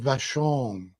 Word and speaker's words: Vashon: so I don't know from Vashon is that how you say it yep okay I can read